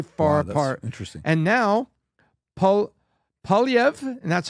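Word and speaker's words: Poilievre: And now, Polyev, and that's how I'll teach you how to pronounce it. Polyev, say eating the apple.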